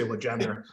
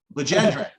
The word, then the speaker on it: Legendre: So we try to remove as much of the French as possible. We say Legendre. Legendre.